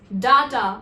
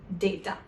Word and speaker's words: data: This word is also mispronounced as data, which is incorrect. Now you know the correct pronunciation is data.